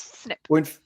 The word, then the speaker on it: SNP: this one here snp this is an acronym snp pronounce snip are they so yes